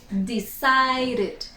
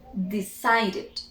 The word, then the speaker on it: decided: Decided. Esta es la única ocasión en que esa E sí se pronuncia.